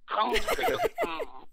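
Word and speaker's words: Comme des Garçons: Comme de Garçon. Nice. You have to do it like that. Back of the throat.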